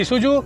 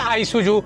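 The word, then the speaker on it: Isuzu: और वैसे ना इसके दो प्रोनाउंसिएशन है, एक तो काफी लोग बोलते हैं ईसुजू और कुछ लोग बोलते हैं आईसुजू। अब समझ ही नहीं आता। कंपनी से बात करता हूँ वो लोग ईसुजू बोलते हैं, बाहर कुछ लोग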